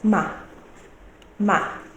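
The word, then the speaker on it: 妈: to tell me is ma. Ma. Now let's go there. We have MA with a flat tone. What can you see as the meaning? We pronounce it as ma, ma, mama, mother.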